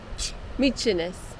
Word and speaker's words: Mykines: Mykines.